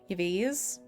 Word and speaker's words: Yves: Yves. Is just V's, is the Y silent.